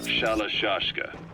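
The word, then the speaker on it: Shalashaska: known about that because somewhere along the line shoshka got stuck on the end of shiroshka the gorillas were using the name amongst themselves by the time I got to hearing about it pronunciation had wound up as shalashka so half gulong half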